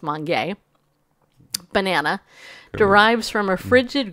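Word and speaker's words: Mongee: eat it all Mon Mon Mon gay its mangy but it's pronounced Mon gay banana derives from a frigid growing environment typically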